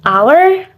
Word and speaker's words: hour: the example is an hour an honor and an honest in some of the sentence above the h letter is silent all right guys after